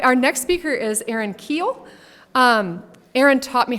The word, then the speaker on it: Kuehl: All right, our next speaker is Aaron Keel.